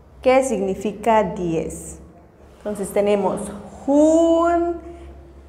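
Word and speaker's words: jun: La pronunciación es Hun. Hun.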